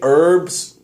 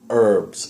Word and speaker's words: herbs: the hub's the herbs when we say herbs usually the H is silent herbs herbs and spices collect the